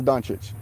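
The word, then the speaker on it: Dončić: Harden hard hard so the proper way to pronounce is donich okay Luka Don [ __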